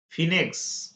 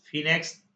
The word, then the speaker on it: Phoenix: ফিনেক্স, ফিনেক্স না, এটাকে হয় ফোনিক্স, PHOENIX, ফোনিক্স। তারপর হচ্ছে কোরাম, কোরাম এর বানানটা কি?